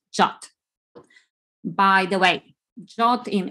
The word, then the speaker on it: JWT: hear the pronunciation as jwt but the rfc suggests the same pronunciation as the english word jot by the way jot